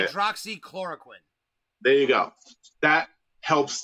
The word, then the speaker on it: hydroxychloroquine: So I always have trouble pronouncing the name. Go ahead and say it. Hydroxychloroquine.